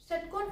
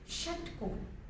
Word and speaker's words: षट्कोण: तो यहाँ मुझे कैसे प्रोनाउंस करना है ये बहुत इंपॉर्टेंट है. ये होता है षट्कोण, षट्कोण. So your lip should also just give the movement, and even your this